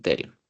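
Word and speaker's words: pterion: Bueno, que se escribe con P. P-T-Erion. El terion. Que si se fijan, es la unión de 4 huesos.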